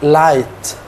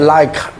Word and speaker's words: light: Jadi light. Gini. Ini hilangkan. Ini GH-nya dihilangkan. Jadi kalau ada di dalam huruf itu IGH, hilangkan GH-nya, ganti I-nya jadi I. Oke? Light. Jangan like.